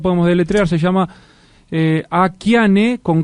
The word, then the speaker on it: Akiane: lituana estadounidense llamaba llamada akian kramarik que vivía en idajo akane se pronuncia a ane aana perdón a Ana de 12 años en